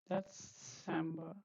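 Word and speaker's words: Dezember: Okay, so this is December. Like this, you have to pronounce this Z. Okay, Z is TS.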